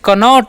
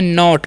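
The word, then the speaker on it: knot: क्या पढ़ेंगे जी तो इसे कनॉट नहीं के का न यहां पर साइलेंट होता है इसलिए इसे पढ़ते हैं नॉट क्या पढ़ते हैं जी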